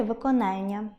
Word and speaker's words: виконання: звісно, буде читАння, як і завдАння, як і виконАння.